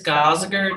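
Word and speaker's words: Gosiger: and it's different on the agenda could you spell it for me it's gazager g-o-s-i-g-e-r and how do you spell lisa it's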